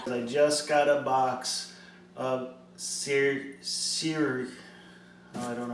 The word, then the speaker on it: Seiryu: Hey Google, how do you pronounce Seiryu?